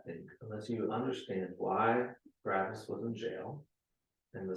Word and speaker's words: Barabbas: Now, to his name, let me pronounce his name a little differently. Barabbas. Do you hear any word in there that you know? Abba.